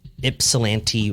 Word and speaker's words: Ypsilanti: pronouncing this wrong the ipsilanti Ripper no no so ipsilanti is a city in Michigan I believe yes Eastern Michigan and it's spelled uh y-p-s-i-l-a-n-t-i so Ypsilanti okay don't know anyway